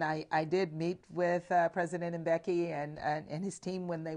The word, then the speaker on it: Mbeki: the discussions in Washington last week with President Mkibi? Is that how you say it? Mbeki? Sorry, Thabo Mbeki.